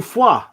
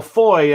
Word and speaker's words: Foy: So we're moving on to foie, or foy, as the Americans and Brits insist on calling it. Well, you don't say foie gras, do you? You say foie gras. So this is kind of the same different spelling, but that's phonetically it's foie.